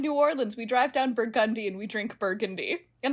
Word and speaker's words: Burgundy: Spelled Burgundy, but Burgundy Street. And the Uber driver said, yeah, in New Orleans, we drive down Burgundy and we drink Burgundy.